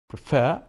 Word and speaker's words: prefer: Prefer, prefer. Why is that? Yeah, preferring, we doubled the R. Why is that? Because it is two syllable verb, but the stress is in the second syllable.